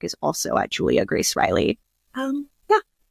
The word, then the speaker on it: Reilly: Um, but I am on Instagram, Julia Grace Riley. My last name is R E I L L Y. I know it's spelled a little different.